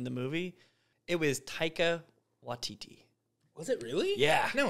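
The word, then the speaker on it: Waititi: say his name taika watiti taika watidi like a titty right he's not there but they're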